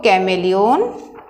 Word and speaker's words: chameleon: इसमें आप लिख सकते हो कैमेलियन, जो क्या होता है, शाय नेचर का होता है, CHAMELEON, ये है कैमेलियन मतलब गिरगिट। तो इसकी स्पेलिंग लर्न करनी पड़ेगी, CHAME कैमे, LEON लियोन, कैमेलियन।